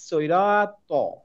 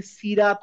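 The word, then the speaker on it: الصراط: টা পড়ি দেখেন আস সৈরাত সৈরাত হ্যাঁ আমি এখানে সিরাত না বলে বলছি সৈরাত আপনারা যদি না পারেন তো সমস্যা নাই এটা একটা সই টাইপের উচ্চারণ হবে হ্যাঁ সই সৈরাত সৈরাত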